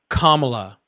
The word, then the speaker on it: Kamala: How did I not pronounce her name correctly? Kamla. I said Kamala. It's so easy.